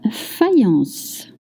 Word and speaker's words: faïence: This is a masculine noun and always spelled with X, even when singular. Number 9, la faïence.